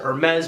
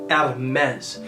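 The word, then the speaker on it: Hermès: from the house of Hermes I tend to pronounce it as our men's but the correct pronunciation because it is a French company is out of mess so to all you people out there that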